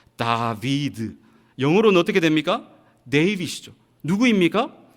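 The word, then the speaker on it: דָּוִד: 그리고 이 달렛, 바우, 달렛을 히브리 사람들은 어떻게 읽을 수 있느냐 하면 다비드라고 읽을 수 있습니다. 다비드.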